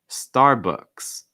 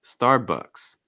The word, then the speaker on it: Starbucks: facebook facebook after that starbucks starbucks key thing second syllable has that schwa sound so it's not box it's books books starbucks starbucks also